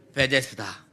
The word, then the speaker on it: 베데스다: 이 베데스다라고 하는 것은 헬라어 발음입니다. 헬라어 발음. 히브리어 명칭인데 헬라어 발음으로 하는 게 베데스다예요. 우리나라에도 그 바리케이트라고 하는 게 있잖아요. 그 영어로 발음하면 바리케이트 이렇게 돼야 돼요. 바리케이트 이렇게 돼야 되는데 한국말로 하면 바리케이트 이러잖아요. 약간 이런 식인 거예요. 히브리어를 헬라어로 발음하니 베데스타라고 발음했고 헬라어로 그대로 발음하면 베데스다라고 해야 된단 말이죠.